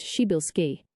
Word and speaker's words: Przybylski: Widely known in astronomy as Tribilski star, pronounced Shibilski.